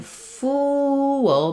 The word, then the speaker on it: fool: And then in fool, because we have a rounded sound, as I go to that sound or schwa sound before the dark L, I'm going to need to do some vowel to vowel linking. So we'll naturally get a glide happening there. Fool. So this one is going to be longer because the tense vowel is longer and also because we have that vowel to vowel linking in there.